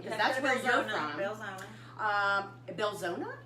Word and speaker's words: Belzoni: Belzona. Belzona? Belzona. That's how you pronounce it. Belzona. Belzoni.